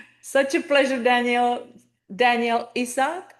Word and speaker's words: Isaac: Danielle Isaac, right? This is Uh-huh. how you pronounce your name? Yeah, or Isaac. Yes. Isaac, I'm Mhm. sorry. Yeah, No, of a lot of course. people say Isak.